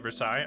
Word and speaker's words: Versailles: i just there's no you don't say the l's i guess we were